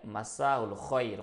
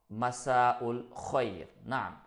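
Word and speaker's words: مساء الخير: Alors, la deuxième façon de faire, Masaul khoyr. Comment dire bonsoir? Donc, pour dire bonsoir en langue arabe, on peut dire tout simplement Masaul khoyr.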